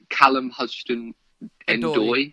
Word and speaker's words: Callum Hudson-Odoi: Again, the young Chelsea player who Bayern Munich have been interested in, is it Callum Hudson-Odoi? Yes, it is. Okay. Yeah. First time I pronounced that correctly, so I'm very happy with that, by the way.